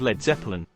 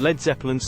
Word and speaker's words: Led Zeppelin: Grant Grant and Page thought the letter a in lead would be mispronounced by Americans so they changed it to LED they also changed the